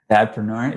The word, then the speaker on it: dadpreneur: Is that how you say it? Dadpreneur, yeah.